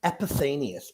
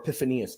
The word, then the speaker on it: Epiphanius: we're gonna look at Saint epithanius or epiphanius depending how people want to pronounce the name this is going to